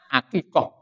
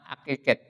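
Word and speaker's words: عقيقة: Kemudian di dalam judul doa itu disebut doa akikoh. Tetapi tidak dikasih harkat. Yang namanya santri baru belum bisa baca betul, belum pintar cara membacanya. Kemudian dibaca ini doa akikat. Jadi akikoh itu dibaca sebagai doa akikat.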